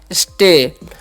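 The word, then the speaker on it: show: एच क्या तलावे स और ओ डब्लू है तो इसका ओ डब्लू का ओ हो जाएगा तो हो गया सो साउ नहीं पढ़ना है अब इन सभी का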